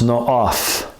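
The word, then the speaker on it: נאף: And it's pronounced no'af.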